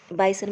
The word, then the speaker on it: bison: आगे देखिए, बाइसन बेटा इसको बिसन भी कहते हैं, स्पेलिंग इसकी BISON होती है।